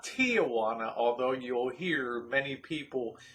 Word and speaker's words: Tijuana: returned from tijuana not tijuana although you'll hear many people calling tijuana both south of the border and in the united states it's officially tijuana three syllables not four i'm not sure